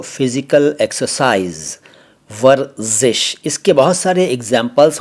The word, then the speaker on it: वर्ज़िश: इसको कई लोग वर्जिस या वर्जिश कहते हैं। ये दोनों ही उच्चारण गलत हैं। सही उच्चारण है, जैसा कि मैंने पहले कहा, वर्जिश, ज ज ज जिश, वर्जिश।